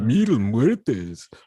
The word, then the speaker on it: Mil Muertes: So that's how you say it, right, Lexa? Mil muertes. You gotta say it like that.